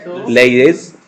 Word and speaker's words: laissez-faire: The first one, which I cannot pronounce again, Laissez-faire. laissez-faire. Yeah, it's English. Yeah, because it's French, right? I mean, this Yeah. is French, but you can pronounce it in English as well.